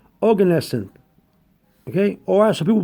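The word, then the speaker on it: Oganesson: g a n e s s o n organesen okay or some people pronounce it organising so if you want to put plastic organism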